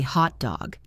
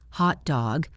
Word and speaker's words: hot dog: We say hot dog. The pitch goes high on hot and drops on dog. If you stress both equally hot dog or if you stress the second one hot dog, you are describing a dog that is overheated, panting in the summer sun. You are not describing the food.